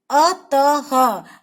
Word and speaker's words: अतः: अतः, अतः, ह लिखते नहीं है, उसकी जगह ये बिंदु लगा देते हैं। जब हम इसका उच्चारण करते हैं तो इसको हम ह बोलते हैं।